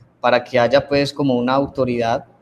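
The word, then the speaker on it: καί: unidos por la conjunción copulativa esta conjunción copulativa que se escribe cae pero se pronuncia que se cual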